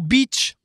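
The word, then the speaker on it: Bitche: Alors, c'est Beach, B-I-T-C-H-E, Beach. Voilà. Et il y a une très belle citadelle à Beach, d'ailleurs. La citadelle de beach.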